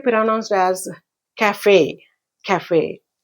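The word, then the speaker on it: café: ఫర్ ప్రొనన్సియేషన్ ఇట్ ఇస్ టు be pronounced yes కఫే కఫే ఈ word మనం చాలాసార్లు వింటూ ఉంటాం అడ్వర్టైస్మెంట్ లో కూడా వస్తూఉంటుంది కఫే అని ఇట్ ఇస్ a French word ఇది ఎందుకు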